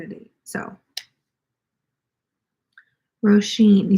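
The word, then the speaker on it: Róisín: bought oh excuse me thank you for correcting me roshin rosheen i've never heard that as name before i feel like i've seen the spelling but i've never heard it pronounced like that before and that's really cool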